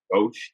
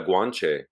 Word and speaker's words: Guanche: kind of the people Guauche Guauche people I don't know if I'm pronouncing it correctly. Yeah, the Guanche. That's it. Yeah.